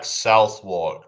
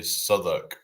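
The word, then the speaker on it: Southwark: It's like Southwalk, but it's actually Soduk or Nor is Norwich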